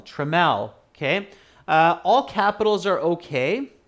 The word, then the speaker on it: Trammell: many of you are saying his name is trammell uh spelt with t r a double m e double l trammell okay all capitals are okay but remember all